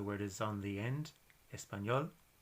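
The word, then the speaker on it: español: part of the word is on the end espanol bailar which means to dance so it's ended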